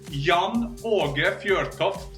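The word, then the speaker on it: Jan Åge Fjørtoft: I got two letters that nowhere to be found around the world. So my normal name is Jan Aage Fjortoft.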